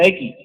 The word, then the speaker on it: aequi: Se escribe aequi y se pronuncia equi.